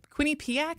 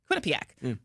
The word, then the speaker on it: Quinnipiac: And this morning I saw that there's a new Quinnip Quinnipak. Is that how you pronounce that? Quinnipak. Quinnipiac poll that found only 27% of voters support President Trump's big beautiful bill.